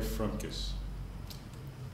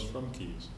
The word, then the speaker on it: Frumkes: I am frus and that is the correct pronunciation there's only one frus family in the